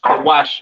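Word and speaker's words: כוש: Pronounced Kawash in the Hebrew.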